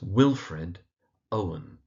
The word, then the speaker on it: Wilfred Owen: So that's Wilfred Owen. And the emphasis in Wilfred is on the first syllable and in Owen again it's on the first syllable.